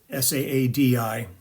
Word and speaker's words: Al-Saadi: I think he pronounces it Saadi, S-A-A-D-I.